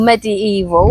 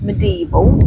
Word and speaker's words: medieval: Or medieval, but it's actually pronounced medieval.